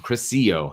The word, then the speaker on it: DeCrisio: John DeCrisio. Thank you, DeCrisio. It's a soft C.